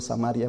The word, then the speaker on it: Samaria: algunos mini critican que porque yo digo samaria porque en otros países dicen samaría es lo mismos amarillos amarillo no es